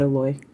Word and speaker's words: aloe: yard so I'll cut alloy and then we'll she said a Loy we'll put it on a slather it yes well in Hawaii it's because we pronounce all the vowels in fact I have